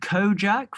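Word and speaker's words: Kojaque: there's this dude called kojak from ireland have you ever heard of him it's spelt like u k-o-j-a-q-u-e and he's incredible i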